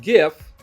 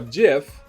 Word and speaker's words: GIF: Developed in 1987 by CompuServe, the graphics interchange format, abbreviated as GIF, is pronounced GIF or GIF.